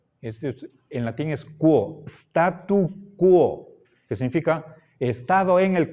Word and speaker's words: statu quo: sí statu qo y en latín la u se pronuncia después de la q Esto no es bueno